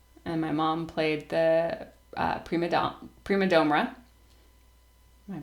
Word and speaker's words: prima domra: played the guitar and my mom played the prima domra. Am I pronouncing that right?